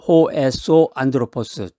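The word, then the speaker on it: ὁ ἔσω ἄνθρωπος: 겉사람하고 발음이 비슷한데 겉사람은 호엑소 안드로포스, 속사람은 호에소 안드로포스. 이 속사람에 해당되는 이 호에소 안드로포스는 우리의 영혼이라든가 믿음 그리고 하나님과의 관계를 의미하는 말입니다.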